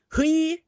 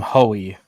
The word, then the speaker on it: Hui: Well, I call him Hoey. Rico Hui. Hui. It is Hui. Hui. I call him Hoey. Yeah, just because the way it's spelled. No, I think it is Hoey.